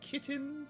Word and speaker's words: KTJN: Pronounce kitten? Oh, of course, cat girls. Yeah. KTJN. Pronounce kitten.